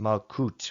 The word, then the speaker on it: Malkuth: and finally number ten malchuth sometimes pronounced malcot with modern hebrew which means the kingdom